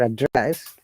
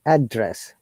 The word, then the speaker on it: address: syllable like address or address when it is now only stress on the first part like address like hey arian what's